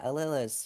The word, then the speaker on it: Alela: not right so okay so how do you pronounce your name oh leila is yeah alilah is just a layla but like okay um